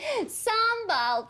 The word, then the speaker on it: sambal: Sambal, pronounced sambal, is a great accompaniment to Asian-y food.